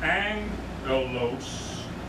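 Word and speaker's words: ἄγγελος: have the manuscripts of when you have two g's together the first g becomes an n when you pronounce it so it's angelos right angels and that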